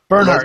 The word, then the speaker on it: Bernhard: So it's like burn hard. Bernhard, not Hart.